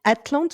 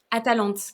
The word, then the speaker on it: Atalante: Et du coup, ça me fait penser aussi parce que Atlante, enfin, c'est ça ton nouveau roman, si enfin, si ça se prononce bien comme ça? Atalante. Atalante, voilà, Atalante. Et Atalante, c'est aussi dans